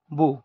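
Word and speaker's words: bow: যেমন বিওডব বো বো means a device for throwing ারোস অর্থাৎ তীর ছোড়ার ধনুক। বো আবার বিওডব। কিন্তু তার উচ্চারণ হচ্ছে বাউ।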